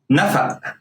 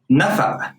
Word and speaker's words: نفق: Here's the cough is pronounced like a glottal stop. O. قطة. نفق. نفق. It's a glottal stop here. نفق.